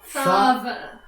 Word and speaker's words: Thava: It's a Thara. Thava. Thava. Sorry. Thava. Like lava.